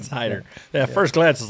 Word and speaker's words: Hayter: where are you yeah it's spelled h-a-y-t-e-r and so just the the a silent okay so it's it's Hider yeah first glance is